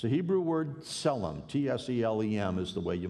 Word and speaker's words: tselem: The word that's used there, it's a Hebrew word, tselem, T-S-E-L-E-M is the way you might spell it out in English.